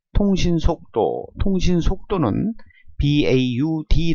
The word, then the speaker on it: baud: 때 통신속도 통신 속도는 baud 라는 단어를 씁니다 보라고 읽고 1초 동안에 1초간 송출